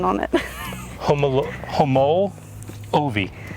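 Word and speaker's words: Homolovi: pronunciation on it hom homo oi it's like two different words homo oi homo oi is how they told us to say pronounce it so we were wrong it's homo oie State Park and we're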